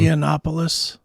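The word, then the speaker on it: Yiannopoulos: Milo Y how do you say his name yopos yeah that's how you say it a former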